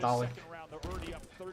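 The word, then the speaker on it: Taulek: Talик, мне нравится, как американцы произносят Талик. И когда я читаю вот это T-A-U-L-E-K, я такой Толик. Don't hold ball enough? Они говорят Талик.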